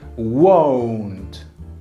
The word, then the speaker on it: won't: bit on the pronunciation this is O Okay won't because we don't want it to sound like want okay which is a fairly similar word but we need to insist and that the prononciation is different okay so I let's